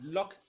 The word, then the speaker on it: Loctite: Strangelove meint, dieser Klebstoff wird ausgesprochen locktief.